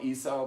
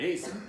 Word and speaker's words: Esau: We call it, it's spelled Esau, but we say Esau.